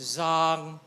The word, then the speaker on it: zang: The spine is zang, Z-A-N-G, zang. But if we pronounce it a little down, it means male organ.